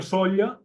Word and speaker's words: Sóller: És a dir, jo sé que Sóller se pronuncia com Buja, com Mina, com Cuba, i hem de procurar no pronunciar serra final, perquè això crec